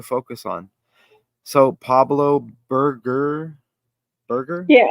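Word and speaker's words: Berger: on so Pablo burger burger yeah I looked up it just tells me how to pronounce Burger I think it's Burger that's how they said it oh and we have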